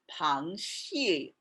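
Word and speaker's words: 螃蟹: make a lot of sense this word is pronounced panchi and pan means crab and shii also means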